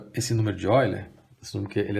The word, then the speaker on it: Euler: ele que esse é assim chamado número de oiler escrever eu lembro o pessoal norment falar Ola que é um matemático alemão a pronúncia seria essa é um número tão